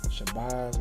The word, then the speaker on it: Shabazz: And then like me and my name being Shabazz.